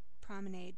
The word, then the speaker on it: promenade: guess i should add promenade because um where i come from there's no there's no french spoken really so um promenade rhymes with lemonade because the only people